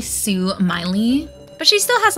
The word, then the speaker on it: Sue Miley: saying my name is Smiley the Laughing doll I'm the doll who will guide you on this floor um it's actually Sue Miley but she still has